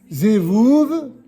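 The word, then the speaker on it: זבוב: Ensuite, une mouche, ça se dit zevouv, zevouv, certains disent zvouv, mais en fait c'est zevouv d'après la grammaire.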